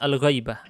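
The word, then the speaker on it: الغَيْبَة: Dan bukan ghibah bacanya. Kalau ghibah nanti menggunjing ya. Ini maksudnya al-ghaibah. Gha-nya fathah ya.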